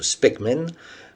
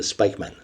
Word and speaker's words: Spykman: Américain de fresh date il est d'origine hollandaise en irlandais son nom se prononce specmen mais aux États-Unis tout le monde dit spikeman il est naturalisé américain